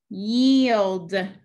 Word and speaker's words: yield: macron above the e cross out the i yield yields that means to slow down if i